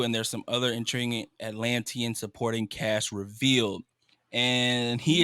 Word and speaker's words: Atlantean: And there's some intriguing Antolinian. Nope, I'm not pronouncing that right either. Say the people from the Atlantic Ocean. Atlantean.